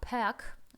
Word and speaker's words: pack: И на конце слова такое как pack, смотрите, как оно пишется CK, да, не просто PAK, а PACK, но мы не читаем здесь букву C, звук с и никакого там звука другого не может быть, кроме как к.